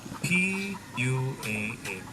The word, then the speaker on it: pua'a: Pig in Hawaiian is pua'a, P-U-A-A, pua'a.